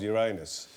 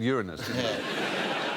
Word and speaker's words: Uranus: When did it stop being called Uranus? About 5 minutes ago, I said Uranus. I suddenly noticed that it could sound like your anus.